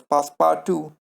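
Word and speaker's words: Passepartout: it is written that way but it is pronounced as past power to Phileas Fogg past power to Alta and the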